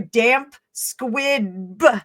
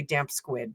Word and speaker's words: damp squib: I said it right. Damp squib. So for those Americans that don't know, damp squib is a wet firecracker that doesn't go off. So, and I always say damp squid because we have a